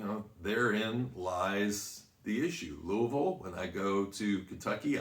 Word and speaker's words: Louisville: here on forward okay it's louisville it is not louisville and it's new orleans